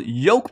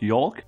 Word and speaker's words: yolk: puzzle today with part two of the triple yoke puzzle now i know how to pronounce this yoke not york and before i start i would like to